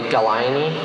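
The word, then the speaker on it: gallinae: Okay, Galaini, are there any alternate pronunciations?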